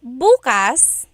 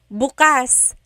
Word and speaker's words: bukas: If you say buas emphasis is on the first syllable that means tomorrow.